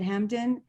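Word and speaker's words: Hampden: He has had recent solo exhibitions at Hampton. Is that how you say it? Hampton? Hampton, yeah.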